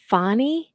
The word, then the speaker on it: Fani: yeah she pronounces it she pronounces it fonnie but that's really weird because we've always called her Fanny Willis from the beginning and like now all of a sudden that everything's National she's suddenly fonny is that how she's always pronounced it or have we just been wrong all this time Julie o thanks to